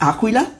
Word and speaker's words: Aquila: is that true yeah the correct pronounce is Aquila which means Eagle oh I'm so sorry